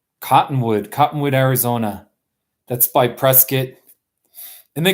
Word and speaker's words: Prescott: Cottonwood Arizona that's my press kit and they call it they say press kit right not Prescott so hate kamikaze by